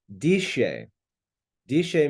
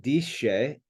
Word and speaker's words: disce: Disce means learn. So we can see that the translation is pretty simple. Now, you look at this word disce, that's the Christian pronunciation. Disce would be classical pronunciation.